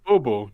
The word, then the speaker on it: Bobo: Because you're writing it B-O-O, like boo. Yeah, baby. I'm like, no, it's Bobo. B-O-B-O. You're like, no, No. it's boo boo.